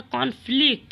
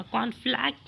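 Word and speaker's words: conflict: Next में दिया हुआ कॉन्फ्लिक्ट। इसका प्रोनाउंसिएशन आप लोग याद रखिएगा, कॉन्फ्लैक्ट नहीं, कॉन्फ्लिक्ट।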